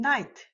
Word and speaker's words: night: And night also has the silent GH.